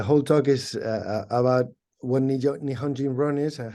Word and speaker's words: Nihonjinron: to us transatlantic, transnational belonging, and would you pronounce that for me, Professor? Nihonjinron.